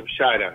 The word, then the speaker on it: Bichara: Entonces yo tengo mi apellido, que parece italiano, Bichara, se pronuncia Bshara en árabe, que significa anunciación.